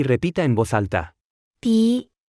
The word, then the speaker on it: 笔: 笔、笔、笔、笔、笔、笔、笔、 Se pronuncia con el tercer tono.